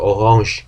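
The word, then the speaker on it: Orange: 근데 읽을 때 오랑지라고 오랑지 그게 전부 다 프랑스어 계통으로 읽기 때문에 그런 현상이 나타나는데 이것도 가라지 하고 읽어주면 됩니다.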